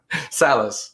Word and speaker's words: Salas: I think I pronounced your name correctly, didn't I? No. No? Okay. Correct me. Salas. Salas.